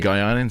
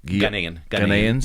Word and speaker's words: Ghanaians: Naturalized, is it Guyanans? How do you pronounce it? Ghanaians?